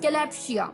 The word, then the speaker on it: kalopsia: तो चलिए द 8th word for the evening was कैलैप्सिया, कैलैप्सिया, KALOPSIA, कैलैप्सिया, KALOPSIA, कैलैप्सिया।